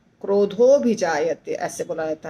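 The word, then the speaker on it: क्रोधोऽभिजायते: आधा आधा होता है अभि जायते क्रोध हो क्रोध हो भी जायते ऐसे बोला जाता है कामात क्रोध हो भ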